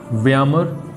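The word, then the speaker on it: Weimar: हो सकते हैं, जैसे व्यामर ही लगा हुआ, इसे व्यामर भी बोल सकते हैं, व्यामार भी बोल सकते हैं, तो this is a different thing, देख लेंगे, कोई बात नहीं है।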